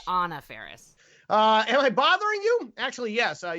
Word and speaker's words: Anna Faris: It's Anna Faris.